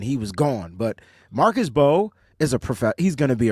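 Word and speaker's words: Mbow: The offensive tackle / guard guy, Marcus, it's spelled M-B-O-W, but the M is silent, so it's Marcus Bowe.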